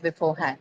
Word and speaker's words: beforehand: Okay, this one also will have the stress on the second syllable. It's also not something that carries a stress. That's because beforehand is formed from compounding.